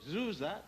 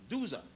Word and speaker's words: Djoser: In the third dynasty, under the pharaoh Djoser, D-J-O-S-E-R, otherwise called Sir, S-E-R, which the Greeks could not pronounce, and they called Djoser, D-Z-O-R.